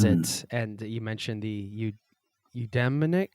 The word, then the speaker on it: eudaimonic: And you mentioned the eudaimonic. How do you pronounce that?